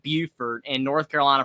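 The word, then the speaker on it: Beaufort: exact same spelling but South Carolina pronounces it Buford and North Carolina pronounces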